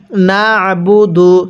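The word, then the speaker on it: نَعْبُدُ: এরপরে নুন আইন জবর না আইনটা চাপ দিয়ে পড়ব। নুন আইন জবর না বা পেশ বু দাল পেশ দু নাবুদু।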